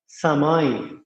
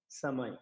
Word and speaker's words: সময়: দন্ত স্ব ম অন্তস্থীয়, এটাকে আমাদের বলতে হবে সময়, এস এর মতো। আবার অনেকে ছর মতো করে, ছর মতো কিন্তু নয়। আমরা আমাদের উচ্চারণের জড়তা থাকতে পারে অনেকে, যে অনেকে বলে যে ছর মতো, ছর মতো হলে সময় হয়ে যাবে, এটা হচ্ছে এস এর মতো সময়।